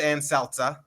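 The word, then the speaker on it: Ann Selzer: It's pronounced Ann Seltzer.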